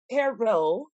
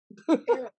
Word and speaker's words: Terrell: If you say Terrell, Turl. they be like, Turl. you're not from here. You don't know how to say it.